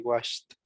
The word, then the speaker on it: washed: Tell me, please, Luis, what is the pronunciation of wash in past? It will be washed.